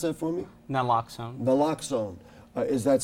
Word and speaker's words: naloxone: wrote about knocks alone didn't unlock so just pronounce it for me nan locks on the lock zone is that something you use